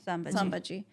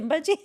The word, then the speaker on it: Sambhaji: Sambhaji. You know what? Did I just say Simbaji? I mispronounced I think I said it that.